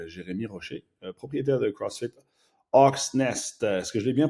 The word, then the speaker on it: Hawks Nest: le care manager de Hustle Up et je parle avec Jérémy Rocher, propriétaire de CrossFit Hawks Nest. Est-ce que je l'ai bien prononcé?